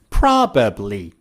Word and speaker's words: probably: The next tip is about the word probably. How do you say it? Probably. I would probably move to another city. Do native speakers say I would probably? No. Native speakers remove the second B, and instead of probably, they say probably.